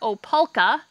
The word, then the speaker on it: Opalka: So the two types that we grow are Opalka, which is spelled O-P-A-L-K-A.